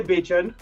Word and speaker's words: Bachan: I say Bachan. Bachan. Oh, I got it wrong. That's not a good start, is it? but it's spelled like that famous actor. So he's Bachan.